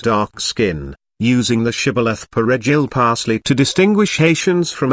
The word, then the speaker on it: Perejil: skin, using the shibboleth Perejil parsley to distinguish Haitians from Afro-Dominicans when necessary. The R of Perejil was of difficult pronunciation for Haitians.